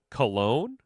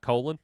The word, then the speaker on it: Colon: I am actually a uh big fan of Tristan Cologne. Did I say it right now, guys? It's not Colon.